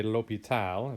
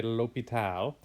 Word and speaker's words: l'Hôpital: It's sometimes spelled with the S, sometimes it's left out, right? So if you look down at this guy's name here, it's kind of a fun name to say. That S there, sometimes it's left out, sometimes it's left in.